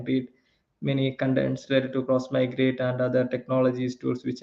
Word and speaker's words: Xmigrate: will have that question so everyone tend to pronounce this tool uh as it is written x migrate but it is not how it should be pronounced like it is a cross migrate because the name should implies what it does